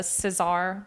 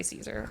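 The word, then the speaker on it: César: a the at the Cesar Caesar. I'm going to say Caesar. I know that's not how you say it in French.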